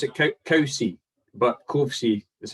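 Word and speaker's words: Covesea: We pronounce it Cowsey, but Kovesey That's how it's spelled.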